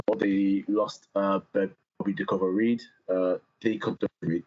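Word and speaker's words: Bobby Reid: Reed, that's how you say his name.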